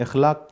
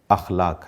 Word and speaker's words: اخلاق: اخلاق کو اصطلاح میں بعض ہمارے دوست اس کو اخلاق بھی کہتے ہیں۔ اخلاق غلط ہے، اس کا صحیح تلفظ اخلاق ہے۔ اخلاق اصطلاح میں